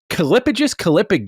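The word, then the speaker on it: callipygous: So let me know what Calipigus, I think is how it's pronounced, what this word means.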